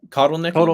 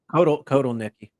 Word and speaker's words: Kotelnicki: And yes, Andy, how do you pronounce his last name? Kotelnicki, right? Kotelnicki.